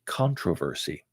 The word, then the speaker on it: controversy: a perfect example okay the English people like to go ahead and talk about controversy in America most people have no clue what controversy is but they would pronounce it controversy so if you're speaking to a lot of English people and they're most of your group then you can go ahead and use it both ways you can say the